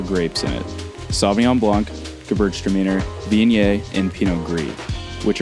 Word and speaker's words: Gewürztraminer: he said that someone told him to say it as Gewürztraminer, the girls are meaner, and kind of pronounce it that way.